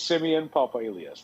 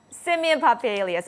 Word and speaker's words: Simeon Papailias: I just want to make sure I'm pronouncing your name correctly. It's Simeon Papailias. Thank you, and it's a pleasure having you. Simeon Papailias.